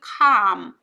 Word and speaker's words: calm: Which kept you calm. 여러분 이 calm은 L이 묵음이에요. 그래서 소리가 안 나고요.